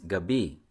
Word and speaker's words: gabi: call it purple yam you say it with a stress on the first syllable the word for evening or night is Gabi which is stressed on the second syllable if you hear giggling